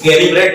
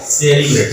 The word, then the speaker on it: celebrate: स का उच्चारण लेंगे सेलिब्रेट। क्या पढ़ेंगे? इसको कैलिब्रेट नहीं पढ़ेंगे, सेलिब्रेट पढ़ेंगे।